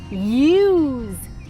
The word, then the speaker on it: ewe: And do you know that mommy sheep are called ewes? Isn't that funny? Ewe. Let's spell that together.